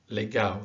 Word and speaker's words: legal: You've got some interesting situations where an A next to an L at the end, or even actually at the beginning or the middle, is pronounced au. Like this is pronounced quintao, legal.